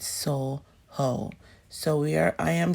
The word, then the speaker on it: SoJo: to soho is really so joe for me because it's sojo but you know um it's a spanish place they pronounce they jer they j silence so they call it soul hoe so we are i